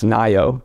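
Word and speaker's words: NAIIO: National AI initiative office which we pronounce nio kind of like California and IO the nio helps coordinate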